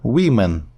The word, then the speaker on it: women: wom а по-інакшому woman women woman women woman women одна жінка пишеться з буквою е багато жінок дві або більше пишеться з буквою і і читається по-різному woman women woman women це такі irreular plurals